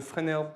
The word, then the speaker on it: Fresnel: F is the Fresnel term. It's a French word, so I'm going to pronounce it in the French way.